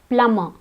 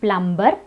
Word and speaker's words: plumber: We also have plumber. It's not plumber, it's plumber. In all these words, the B is silent.